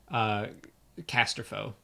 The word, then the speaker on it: Casterfo: Casterfo, that's how you say it. Claudia Gray corrected me in person on that.